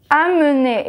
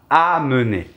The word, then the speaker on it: amener: Segunda palabra es amener, es casi igual, a nivel de pronunciación también, Sí, ¿eh? pero no es la nasal en, pero amener.